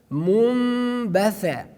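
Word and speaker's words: منبثا: That's why that we pronounce Munbatha, and we do not pronounce the letter Noon.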